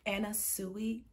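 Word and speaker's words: Anna Sui: pronounce her name correctly so it's actually anna suey and i had been saying anna sue in all of my videos so i am incredibly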